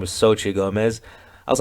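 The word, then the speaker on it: Xochitl: high school flashback because her name was Sochi it's spelled x-o-c-h-i-t-l Sochi anyway I had a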